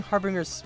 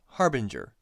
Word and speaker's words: Harbinger: now I realized that I just pronounced Crowes swords name wrong instead of harboring her it's Harbinger you know like the harbinger of death yeah you get it